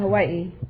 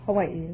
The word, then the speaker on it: Hawaii: a thousand I'm from Hawaii Hawaii is that the correct pronunciation I thought it was Hawai oh that's not right Hawaii is correct oh you couldn't say